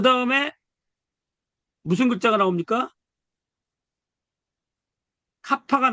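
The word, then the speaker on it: κάππα: 카파가 나오네요. 카파가. 카파가 나오는데 이거는 K자처럼 쓰면 돼요. K자처럼 이렇게. 이거를 우리가 카파. 카파니까 요 키읔자가 보이는데 요게 발음이에요. 다시 한번 강조하지만 카파라는 말을 몰라도 될 정도로 요게 나오면 키읔자다 발음이.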